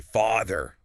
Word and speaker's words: father: Right, they might say father with a sharp sound. But it is actually much softer. The A in father is an open, relaxed vowel. Your jaw drops slightly.